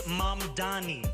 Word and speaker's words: Mamdani: And furthermore, the name is Mamdani. M-A-M-D-A-N-I. You should learn how to say it.